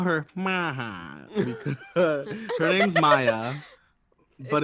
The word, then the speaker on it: Maja: Because her name's Maya, but it's It's spelled like spelled M-A-J.